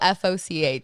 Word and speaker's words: Foch: It's Foch. It's spelled F-O-C-H.